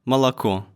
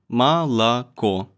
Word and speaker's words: молоко: For example, молоко, молоко. The last O is stressed. It means that it's pronounced loud and clear, unlike all the other syllables. All the other ones, I guess they get muffled. That's why they're gonna be pronounced as A.